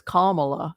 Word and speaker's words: Kamala: I've heard it's not Kamala I've heard it's Kamala so when you guys figure out how to pronounce it let me know if we lose